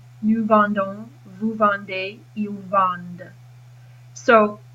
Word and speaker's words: vendent: vendons, vous vendez, ils vendent. So how do you tell an il singular and an il plural? Well, you tell by pronunciation. So il vend is singular, ils vendent with the D is plural.